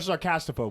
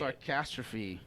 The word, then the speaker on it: Sarcastrophe: Sarcastrophe. Sarcastrophe. Fee. Yeah, oh, fee. Yeah, you're Yeah. right. I'm reading it wrong.